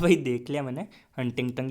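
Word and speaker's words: Huntington: हाँ तो भाई देख लिया मैंने, हंटिंगटन ही कहते हैं उसको, प्रोनाउंसिएशन कोई क्या पता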